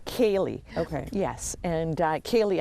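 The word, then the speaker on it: ceilidh: the pron the correct way to pronounce to pronounce it yeah yeah that word it's Kaye okay yes and uh Kaye actually translates as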